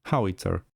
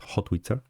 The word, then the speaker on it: howitzer: So it's howitzer, not hotwitzer.